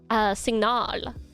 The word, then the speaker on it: signal: And then we have signal, signal. Signal. Signal. Signal. R. You accentuate the A.